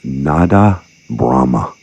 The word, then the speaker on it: Nada Brahma: and the tradition and history of vibrational healing, mainly in the Ayurvedic culture of India, and that the title of the book is spoken as Nada Brahma.